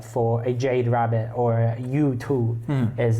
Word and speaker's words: Yutu: So, the toad is exchanged later for a Jade Rabbit or Yutu is how it's pronounced in Chinese, which will come up later.